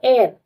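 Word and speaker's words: heir: एयर उसका spelling क्या है? लेकिन एच ई आई आर H silent होता है तो एयर the person who inherited property स्टैटल of position after someone death.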